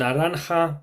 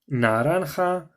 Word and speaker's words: naranja: start of a word, that would be pronounced as a H. And you'll see that later when we come on to orange as well. Púrpura, amarillo, rosa, naranja, and azul.